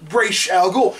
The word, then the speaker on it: Ra's al Ghul: He even says it, Ra's al Ghul. So I'm like, why is everyone else mispronouncing it?